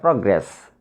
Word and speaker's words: progress: In the same way, the word progress is a noun, and this word consists of two syllables. Progress. So we should stress on the first syllable, prog.